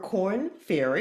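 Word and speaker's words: Korn Ferry: She's a former principal consultant for Corn Ferry. Did I pronounce that right?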